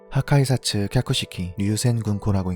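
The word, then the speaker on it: 破壊殺・脚式流閃群光: 하카이사츠 캬쿠시키 류센군코라고 읽는 이 기술, 파괴살 각식 유성궁강입니다.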